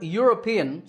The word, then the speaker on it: European: is similar the word european starts with a year sound so a European tour